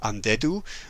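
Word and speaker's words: Andedu: So that when you read it, you don't automatically go, "Oh, undead." Yeah. So, it's a little bit hidden, but it if you pronounce it, yeah, it's undead.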